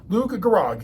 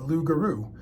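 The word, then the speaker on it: loup-garou: Louise solves one puzzle lug gag is a mispronunciation of lugaru translated into English the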